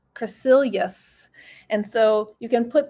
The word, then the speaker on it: Crecelius: to pronounce my name it is cra like crest toothpaste cre and then seal and then ye us crescilius and so you can